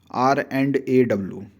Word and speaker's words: R&AW: Simply common लोग रॉ बोल देते हैं, बट इसका सही से नाम अगर आपको प्रोनाउंसिएशन करना है तो इट शुड बी R&AW।